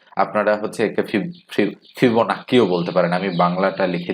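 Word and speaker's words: Fibonacci: তো যেহেতু বলা হচ্ছে এখানে একটা বিষয় হচ্ছে ফিবোনাচ্চি, বা আপনারা হচ্ছে একে ফিবোনাক্কিও বলতে পারেন।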